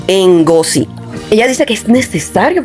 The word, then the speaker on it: Ngozi: Chimamanda Ngozi, o sea, se escribe Ngo, entonces se lee así, Ngozi.